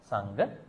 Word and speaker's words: Sangha: Sangha and Sangha. Sangha means bond. Sangha means community. You have to pronounce properly. It has to be Sangha.